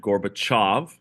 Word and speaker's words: Gorbachev: One man named Male Gorbachev. That's how you pronounce it. Gorbachev.